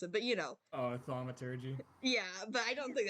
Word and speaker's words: thaumaturgy: I kind of wanted to use like the thaumaturgy, like I forgot how to pronounce it, but you know. Oh, thaumaturgy.